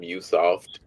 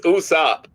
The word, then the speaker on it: Usopp: It, it's so funny that you called him Usoft. It's Usopp, but he is scary and be running away.